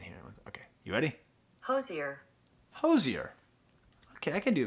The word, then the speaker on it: Hozier: up I'm gonna look it up how to pronounce Hoser that's here you ready oh wait I can't hear it okay you ready Hozier Hozier okay I can do that all right